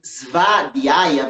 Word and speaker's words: Svadhyaya: E esse segundo A, esse primeiro A da palavra vai ser longo. Sua. Aí vai aparecer um DHY, que a gente vai pronunciar como Ri. Svadhyaya.